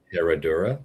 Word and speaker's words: Herradura: Herradura, yeah.